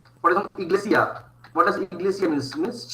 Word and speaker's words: iglesia: I is pronounced as E. E. E. For example, iglesia.